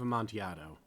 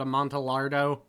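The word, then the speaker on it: Amontillado: a little bit okay know it's spelled weird but I'm a little bit s sick of hearing people call it a monardo like it it's weird French Italian Spanish something but which I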